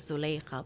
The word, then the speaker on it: Zulikha: That's so how the Arabic pronunciation is Zulikha, but look, I do commercial real estate, so I'm around a lot of white Texans.